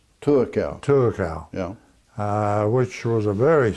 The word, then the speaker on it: Tuakau: but for the first 12 or 13 years, I lived in the little town of Tuakau. Tuakau.